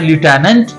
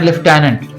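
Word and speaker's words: lieutenant: इन्होंने बड़ा कमाल का सवाल पूछा है कि ये जो हम फौज में कहते हैं लेफ्टिनेंट, तो इसकी दो प्रोनाउंसिएशन है। अमेरिकन बोलते हैं लिeutenant और ब्रिटिश बोलते हैं लेफ्टिनेंट।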